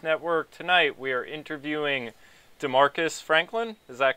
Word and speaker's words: Demarcus Franklin: Tonight, we are interviewing Demarcus Franklin. Is that correct? Did I say it right? Yeah, that's correct. Demarcus Franklin, and we're going to get into some of